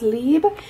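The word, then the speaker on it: Libre: octoly first off i got the ysl it's pronounced lib and this is the eau de toilette i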